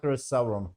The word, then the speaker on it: Sauron: it right right this is Sauron you are Sauron okay he's